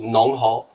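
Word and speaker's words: 侬好: ，农活，农就是你农侯，农侯。对上海话的对你好叫农侯，农对，侯。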